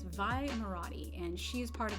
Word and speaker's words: Vi Moradi: I think it's spelled Maradi. It's Vi Moradi, and she is part of the Resistance.